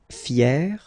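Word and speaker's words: fière: Fier, fier. So you write them differently, but then phonetically it's exactly the same.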